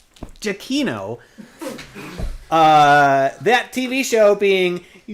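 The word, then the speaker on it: Giacchino: starred in this tv show scored by michael giacono jaquino uh that tv show being lost that's the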